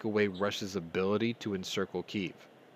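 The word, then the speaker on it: Kyiv: ability to encircle keeve if you notice i've been pronouncing kiev the way that the ukrainians do now because i didn't realize how insensitive it was for calling it the way that the russians do making an effort here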